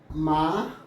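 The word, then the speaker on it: माँ: മാ എന്നാണ് ശരിക്കും അതിൻ്റെ ഉച്ചാരണം. എന്താണ്? മാ എന്ന് ഉച്ചരിച്ചാൽ മതി. മാ അതിൻ്റെ അർത്ഥം എന്താണ്? അമ്മ എന്നാണ്. മാം എന്ന് എഴുതും, മാ എന്ന് ഉച്ചരിക്കും, അമ്മ എന്നാണ് അർത്ഥം.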